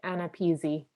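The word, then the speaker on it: AANAPISI: but it's a-a-n-a-p-i-s-a and is there a pronunciation for that acronym does anybody know at my former institution at uci we were also that we always said anna peasy okay all right thank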